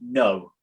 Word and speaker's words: know: Yeah, but it's got a K at the start. But if you take the K off, it actually says now.